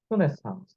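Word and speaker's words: renaissance: 르네상스 불어로 이렇게 씁니다. 르네상스 이게 정확한 발음인데, 예, 이 르네상스 영어로 돌리면요, 리버드라는 뜻입니다.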